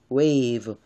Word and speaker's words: wave: wave 그래서 V 발음 그냥 V가 아니고 V 아랫입술을 깨물면서 wave 이렇게 발음하면 좋겠습니다.